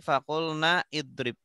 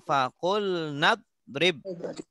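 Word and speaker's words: فقلنا اضرب: Contoh kita baca dari fakulna. Langsung fakulna drib. Bukan fakulna idrib, tapi fakulna drib.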